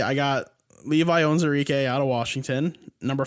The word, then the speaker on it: Levi Onwuzurike: First up on my list, I've got Levi Onwuzurike.